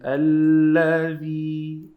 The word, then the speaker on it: الذي: Make sure just you're saying the, not z. This is a well-known mistake. Many people are saying z instead of the. They have to say الذي.